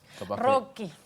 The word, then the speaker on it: Rocchi: que invitamos a uno de sus directores roche a conversar con nosotros bienvenido en mi apellido es Rocky Rocky Claro en italiano no se pronuncia rock y